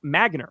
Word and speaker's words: Magnar: Correction on my name is pronounced Magnar.